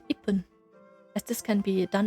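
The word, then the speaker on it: いっぷん: If you say ichi-fun, you will realize that you will need to stop the airflow after the chi in order to pronounce the fun afterwards. It's far easier to say ipun, as this can be done in essentially one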